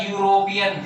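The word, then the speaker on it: European: अब देखिए फिर से ई से स्टार्ट होने वाला वर्ड है, लेकिन इसका प्रोनाउंसिएशन क्या आएगा, यूरोपियन। फिर से ये का साउंड आता है, कॉन्सोनेंट का साउंड आता है हिंदी के अकॉर्डिंग। तो देखिए ये का साउंड आया, ये तो इसमें कहीं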